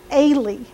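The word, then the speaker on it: Ailey: before Valentine's Day to how do you say it Ali ay Aly a i l e y a now dance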